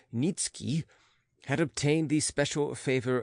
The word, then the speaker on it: Nietzsche: The family tradition was that a certain Polish nobleman, Nikki, pronounced Nitski, had obtained the special favor of Augustus the Strong, King of Poland, and had received the rank of Earl from him.